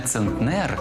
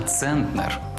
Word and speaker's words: центнер: 3 с ме А ось одиниця виміру маси яка дорівнює 100 кг називається не центнер а центнер Отже п'ять центнерів а не пять центнерів Зараз ми вели розмову